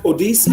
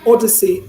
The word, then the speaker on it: odyssey: y s e y we pronounce it odc or something so it's actually odyssey okay it's a straw a weak a sound or it sounds a not e not e actually it's not that strong e we have in